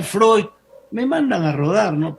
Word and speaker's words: Freud: lo creó un bien es freus pero se debe pronunciar freud me mandan a rodar